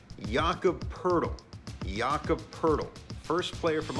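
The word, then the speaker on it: Jakob Pöltl: look at his name you might think jacob poltel but it's jakob pertl jaaka purtle first player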